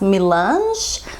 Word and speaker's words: Melange: I want to say it's pronounced Melange.